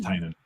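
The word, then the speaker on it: Tynion: He named his company Tiny Onion specifically to help people pronounce his name. Like that's the whole point of the company. Is that right? Yeah. James Tinan.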